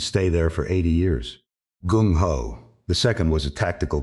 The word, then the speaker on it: gung ho: Carlson Anglicized it into two syllables that would end up in the American dictionary and stay there for 80 years. Gung ho.